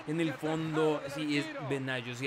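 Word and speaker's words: Benaglio: Sí, es Benaggio, sí, el apellido es italiano, es como Benaggio, aunque es muy complicada esa pronunciación de la conjunción de las letras G L en el italiano.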